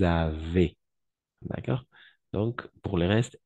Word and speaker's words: avez: Et ici, le S, à la fin, on ne prononce jamais. De la même façon ici, le Z, on ne prononce jamais. Nous avons, vous avez.